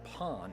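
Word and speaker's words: パン: Portuguese also probably introduced the word pan or Pawn is the authentic pronunciation Pond just means bread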